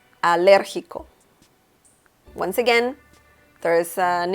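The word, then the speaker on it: alérgico: allergic is a liriko liriko once again there is an intonation happening here so we see that the letter e has an accent mark which means that you pronounce it a little stronger so logical logical okay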